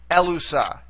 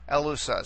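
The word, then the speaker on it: ἔλυσα: So we would accent it right here on the very first syllable or the antepenult to get elusa, elusa. So you see the accent there on the first syllable, okay?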